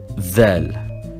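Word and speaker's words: ذال: Then we have dhal, written like dal, but the point is on top, and we pronounce it like the English the.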